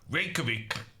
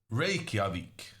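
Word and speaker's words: Reykjavík: I call in Norwegian what English people call reik um but um I think uh based on a islandic professor on YouTube the correct answer is ravik uh anyway uh we're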